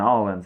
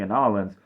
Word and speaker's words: New Orleans: end of the war if you're wondering why I'm pronouncing an Islands not New Orleans it's better to say the name of the place the way the locals say it so and you probably